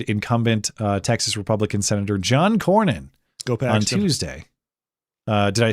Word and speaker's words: Cornyn: So, as discussed on Wednesday, Trump endorsed Ken Paxton defeated incumbent Texas Republican Senator John Cornyn on Tuesday.